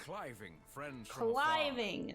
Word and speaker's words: Cliving: Cliving is how you say it.